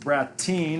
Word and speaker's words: Bratten: routine SP comm and my last name is B RA tten it's pronounced brat teen but it looks like Bratton yeah and you follow